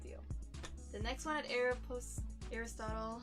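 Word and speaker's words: Aéropostale: The next one at Aeropostale, I hope I'm saying it right. Yeah, I've been saying it wrong. It's Aeropostale, sorry you guys.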